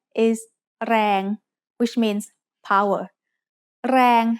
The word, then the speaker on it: แรง: แรง has a low-class consonant and a live ending, so it is pronounced mid-tone.